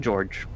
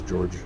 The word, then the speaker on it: Georg: I will call him George we will call him spiders George the name is spelled and pronounced Georg and it it is in fact a derivative of the name George but it's Georg emanating from this tunnel